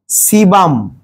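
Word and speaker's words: sebum: পদার্থের কথা বললাম তৈলাক্ত পদার্থ ওর নাম হচ্ছে সিবাম সিবাম ওইটার নাম কি সিবাম এ সিবি এম সিবাম সিবাম সিবাম বানানটা হচ্ছে একটু দেখে নিতে হবে আর সিবাম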